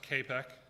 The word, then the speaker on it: CAPEC: So next, on the attacker method, you have the MITRE CAPEC, and that's pronounced CAPEC.